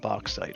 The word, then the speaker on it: bauxite: You know, I say it bauxite, okay? Because it's spelt like a box, of course.